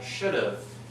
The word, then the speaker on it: should've: In spoken language, people don't often go "I should have studied", we simply contract the two words "should" and "have", and we pronounce them "I should've", "should've".